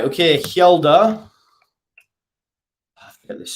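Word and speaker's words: Hjelde: agreeing apart from Free Falling uh right okay Hilda look at this spelled that spelling right um h j e l d e l d e sorry Hilda future uh leads there you go I've asked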